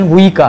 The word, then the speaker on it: उइका: और आपको पता है जो उइका है, जिनका प्रोनाउंसिएशन वुइका है, अभी वो उइका बन गए हैं, कोई उइके कहता है, उइकाल है।